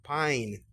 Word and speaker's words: pine: Existe la palabra pino que se lleva la e final, se pronunciaría pine.